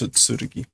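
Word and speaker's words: 剣: That is not a very common pronunciation for that kanji, which is also why it's got the hiragana.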